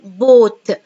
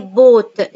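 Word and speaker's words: bought: buy boat، buy boat، جي اتش سايلنت، يشتري اشترى، يشتري اشترى، جي اتش سايلنت.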